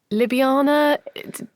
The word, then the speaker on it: Ljubljana: Went to Ljubljana. Questions around how that is actually pronounced, but we'll go with that.